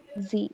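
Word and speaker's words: sie: this s i e s i e is pronounced as Z you can write z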